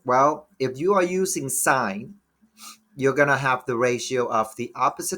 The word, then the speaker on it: sine: quick um first off sine a function is abbreviated as si n is still pronounced sine it's not sin right and then cosine